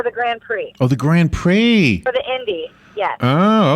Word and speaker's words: Grand Prix: We had a guest once who didn't know how to pronounce it. they did what they say. Pricks?